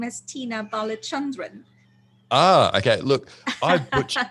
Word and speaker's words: Balachandran: balbacherian thank you very much jason so you pronounce my name as tina balachandran ah okay look i butch look this is